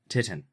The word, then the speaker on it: titin: Titin. Titan. It's the what? Titan. Titin. Titan. You're wrong. It's not got an A. It's got an I. Anyway, I know. it's titin, the largest protein. It's like Titan.